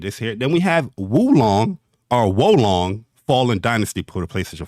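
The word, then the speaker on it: Wo Long: Then we have Wolong Fallen Dynasty for the PlayStation 5 and 4. How do you pronounce that? Is Wolong. Wolong? I hear people say Wolong.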